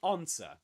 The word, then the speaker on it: answer: So, we say answer which means that the s is silent. You don't say I'm um sorry there's a mistake here. Yeah, you were confused that weren't you? You were confused because of this, weren't you? What is silent here is the W.